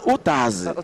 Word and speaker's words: Utaz: They say na Utaz. Utaz. But now Utaz, na him be the proper pronunciation.